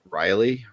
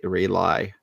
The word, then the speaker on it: Raleigh: they'll be going live from the con um Riley Riley Riley Riley North right r r a l e i g h Ray RI Raleigh you're saying it like r o l l